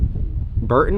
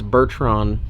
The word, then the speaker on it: Bertram: Bertram Marine? I dude, I can't say it right. I don't know. I just I call it Burt Burton Marine? It was wrong. It's Bertram Marine.